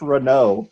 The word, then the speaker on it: Renault: ford tiffany gmc brian no it's french i'm i'm not even a fact check that's pronounced i'm not making it up it's pronounced renault right now i can't